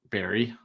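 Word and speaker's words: Barrie: r r i e So it's b a i r- re is the pronunciation so Barry okay yeah Barry yeah bear B A yeah Barry there we go sure people are loving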